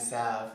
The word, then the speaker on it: salve: The L is silent, hand salve, right?